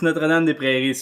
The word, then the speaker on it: Notre-Dame-des-Prairies: Yeah, it's Notre-Dame-des-Prairies, so it's Notre-Dame-des-Prairies, it's not super close to Montreal, but it's like maybe 45 minutes outside of Montreal.